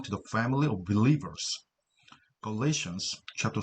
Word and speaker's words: Galatians: good works, 선행, Galatians, Galatians, 발음표가 이렇게 되죠. Galatians, 강세는 뒤에 있습니다.